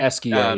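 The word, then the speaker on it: Esquie: Is that how you pronounce it? Eskia? Eskia? Eskia, yeah, yeah, And so one of the more lovable, charming characters yeah.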